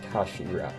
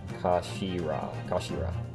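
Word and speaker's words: 頭: end of the hilt it's written as head in japanese but it's pronounced as kashira kashira ah look what's inside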